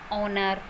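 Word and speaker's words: honour: एच कुछ few words हैं जो एच से शुरू होते हैं और एच उनमें साइलेंट होता है। कुछ एक वर्ड है ये जो एच से शुरू होते हैं और वहाँ पर एच साइलेंट होता है। For example year, honest, ऑनर, आवर। तो यहाँ पर एच से शुरू है ये सभी वर्ड, बट यहाँ पर एच जो है वो साइलेंट है।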